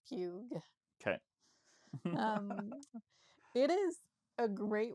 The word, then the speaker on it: Pugh: Pugh, yeah.